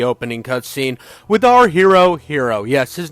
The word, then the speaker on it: Hiro: cutscene with our hero, Hiro. Yes, his name is Hiro, and pronounced just like the one with a cape.